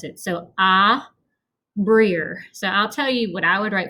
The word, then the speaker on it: Abrir: So Abrir. So I'll tell you what I would write for the first one, just so you have an idea. I would write Ahbreer.